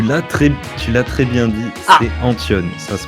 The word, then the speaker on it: Antton: Tu l'as très bien dit, c'est Antion, ça se prononce Antion. Ça s'écrit bizarrement, mais ça se prononce Antion.